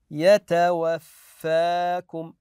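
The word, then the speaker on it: يَتَوَفَّاكُمْ: هم بلقاء ربهم ايضا هذه الكلمه يتوفاكم ناتي بالالف الصغيره يتوفاكم يتوفاكم ايضا هذه الكلمه كيف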